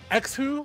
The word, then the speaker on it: xHu: xHu, which is how he just told me how to pronounce his name here.